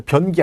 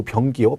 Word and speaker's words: 병기: 발음 잘 변기 아니고 병기요.